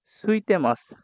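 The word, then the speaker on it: ついてます: সুইতে মাছ, সুইতে মাছ, দেখেন আমি কিন্তু এখানে ইটার উচ্চারণ করছি না।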